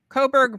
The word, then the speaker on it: Coburg: own page it's Coburg Coburg breads it's spelled just like co-burger without the ER and it's Coburg breads